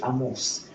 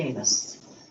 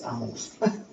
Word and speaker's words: Amos: He was from Africa and uh he pronounced it amus. So don't call me anus. It's amus.